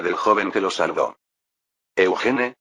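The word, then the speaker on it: Eugène: Eugene, la pronunciación francesa de Eugene.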